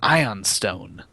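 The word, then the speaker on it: ioun stone: cin I have no idea this is an ion Stone it can am I mispronouncing that Josh no no you got it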